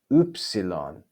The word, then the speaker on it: upsilon: Then we have the 6th vowel, upsilon, upsilon.